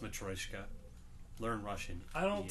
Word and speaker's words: Matryoshka: And it's pronounced Matryoshka.